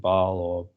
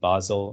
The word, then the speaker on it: Basel: any regulations we have depending how you pronounce it baal or basel regulations as well if you